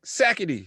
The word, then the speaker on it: Sackitey: that's how a guy level would be like sakety what's going on babe it's sackety but you